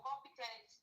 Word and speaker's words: competent: Then compel is a verb, or competent is An an adjective. adjective. Yes, an adjective. Yes. And should be stressed where? On the first syllable.